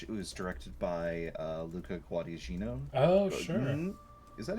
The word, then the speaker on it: Guadagnino: It was directed by Luca Guadagnino. Oh, sure. Is that how you say his name? I believe you would probably say it. I need to look at it. Wait, that's the painting. Guadagnino? Guadagnino, yeah.